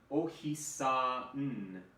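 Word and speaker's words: おひさん: So we use, in Japanese, oftentimes the n sound has its own syllable. Ohisa-n. And then same with yo-n-de koi. Yo-n-de koi. So you kind of give that n its special syllable.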